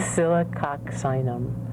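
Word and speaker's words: Oscillococcinum: Oxylococcinum.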